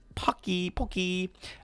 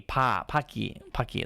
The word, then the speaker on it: poke: Poke is meant to be pronounced with a long O sound. Poke, not a short A. Paki.